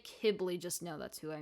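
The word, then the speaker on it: Qibli: say to my head kibblies and that's who he is to me i think it's technically keebly though but if i say kibbly just know that's who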